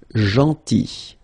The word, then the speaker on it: gentil: So remember this final L is not pronounced. Gentil. Gentil.